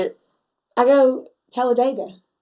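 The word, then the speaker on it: Talladega: Well, I did not know you was in Talledega, but I am so for that.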